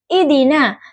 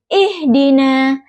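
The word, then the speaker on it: اهدنا: Kata ihdina, huruf ha yang makhrajnya itu di tenggorokan tengah. Huruf dal makhrajnya itu di ujung lidah dan gigi seri atas. Kesalahan yang sering terjadi seperti pengucapan hak yang terlalu lemah sehingga terdengar seperti idina. Contoh bacaan benar ihdina dengan hak yang jelas.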